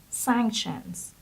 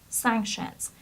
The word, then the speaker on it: sanction: The next word is sanctions. Sanctions. Again, it was in its plural form in the text, but the singular form is sanction. So the stress is on the first syllable, and it's sanctions. Sanction.